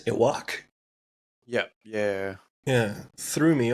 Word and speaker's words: Yhwach: And this guy's the most complicated name in the world, so it's spelled YHWACH. I'm like, all right. But it's almost pronounced like earwax, Iwak.